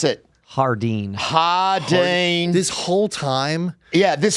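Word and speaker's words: Jardín: here in Las Vegas not Jardine not lardin Hardin for all your marijuana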